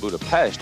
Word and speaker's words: Budapest: Hi, I'm Kurt Loder, and we're here in the Hungarian capital of Budapest, or Budapest as it's pronounced, straddling the Danube River about 100 miles east of Vienna.